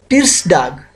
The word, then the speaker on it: Tirsdag: For Tuesday, it's Tirsdag.